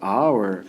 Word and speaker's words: hour: 하는데 자 마찬가지 죠 자 our 이거 조심하세요 our 자 our 할 때 여러분들 our 할 때 h가 여러분들 무음이에요 그래서 얘는 모음 발음으로